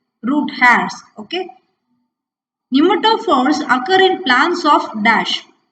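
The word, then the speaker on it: pneumatophores: Nematophores. Okay. So P silent here. You have to pronounce this as N-E-U. New. M-A. Ma. T-O. To. P-H-O. For. R-E-S. Ris. Okay. Nematophores.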